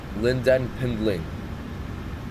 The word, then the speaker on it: Lynden Pindling: How do you pronounce it? Hold on. It's Lynden Pindling. Lynden Pindling.